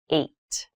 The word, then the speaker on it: eight: is the number eight this has an interesting spelling it's pronounced eight eight is a lucky